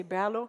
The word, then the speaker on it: BRLO: the number of beers we just say bellow like Berlin but there are all